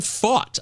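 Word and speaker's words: Pfaadt: apparently it is Brandon fought I had never looked this up but the pronunciation says fought like you want to fight we fought we had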